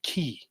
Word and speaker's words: ki: like your life force in Japanese it's pronounced key you know and so